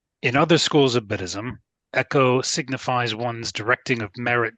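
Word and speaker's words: ekō: So anyway, so directing a virtue, echo. Is that how it's pronounced?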